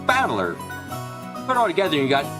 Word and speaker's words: Battler: far the problem is my given name is made up of the characters fight in person and it's pronounced battler put all together you